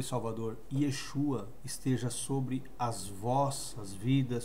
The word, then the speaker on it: Yeshua: Messias se dirigiam a ele ou seja por Yeshua não existe nenhuma outra pronúncia em Israel hoje dos crentes lá daqueles